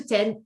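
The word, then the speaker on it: dix: And number 10 is 10. 10. And you may have noticed it's extremely similar to 6. Okay, the X is pronounced like S.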